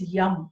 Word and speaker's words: Yam: The mantra is YAM, YAM, Y-A-M, YAM. It is written Y-A-M, but when we pronounce, we are pronouncing it as YAM.